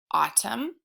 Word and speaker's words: autumn: this line you have two words that have the AU that says ah so my turn your turn ah um autumn the word is autumn